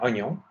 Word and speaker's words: oignon: Le I dans oignon est muet.